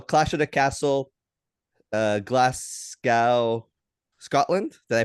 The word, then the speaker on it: Glasgow: it's true so clash of the castle Uh Glascow Scotland did I pronounce it right glasow Scotland yeah glasow glasow Scotland uh almost uh